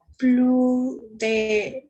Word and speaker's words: plus: C'est prononcé à la S. Plus.